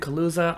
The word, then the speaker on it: Kaluza: Today I am talking with Ben Kaluza.